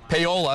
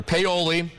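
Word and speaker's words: Paoli: Again, Paul's Valley, Peola, especially if you live right in between Peola and Paul's Valley, or Peoli. It's pronounced both ways.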